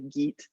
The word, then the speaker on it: Geat: The English or the American pronunciation is probably Geet, but I spent a lot of years learning and teaching about Beowulf, so you'll hear me say Yayit sometimes. It's a more traditional way.